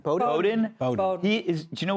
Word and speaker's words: Bowdoin: How do you pronounce the name of his college? Bowdoin. Bowdoin.